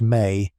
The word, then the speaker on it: me: The MI pronounced may are not abstract ideas or vague divine inspirations.